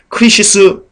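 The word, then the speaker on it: κρίσις: 받게 된다 할 때이 심판은 크리시스 있니다 그렇게 발음합니다 원어로 뜻은요 절단 분리입니다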